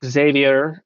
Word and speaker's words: Xavier: Now, yes, in the name Xavier, you would pronounce the X, but X at the end of a word is silent.